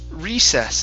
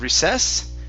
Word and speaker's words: recess: go good okay um this word here is pronounced recess instead of recess it's recess okay recess okay very nice